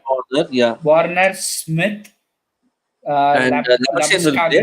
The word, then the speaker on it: Labuschagne: Warner, Smith, And Labuschagne will play. Labuschagne. Yeah, Labuschagne. I will pronounce him in Harsha Bhogle அந்த Afrikaans.